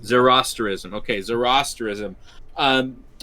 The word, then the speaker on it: Zoroastrianism: How is it pronounced? Zoroastrianism? Yeah, it's Zoroastrianism. Zoroastrianism. Okay, Zoroastrianism.